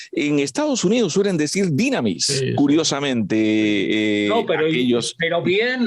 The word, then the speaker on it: dynamis: El acento en griego es dynamis.